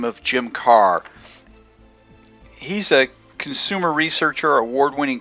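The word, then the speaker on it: Karrh: It's Carr. Okay, so the H is silent.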